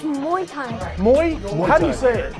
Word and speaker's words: muay thai: are we saying it right louis thai it's muay thai against matthew and explain how like the uh